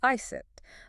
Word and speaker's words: Iset: I am your host, Iset, though most of you poor mortals probably know me as Isis, but I prefer Iset. It is the older pronunciation, yes.